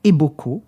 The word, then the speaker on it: Eboko: OK et c'est Fred Eboko. Alors pareil ça s'écrit comme ça se prononce E B O K O.